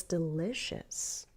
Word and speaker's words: delicious: Okay, so I'm going to go up, delicious, up on li, on the stressed syllable, and then fall down. Have you ever tried a warm lobster roll? It's delicious.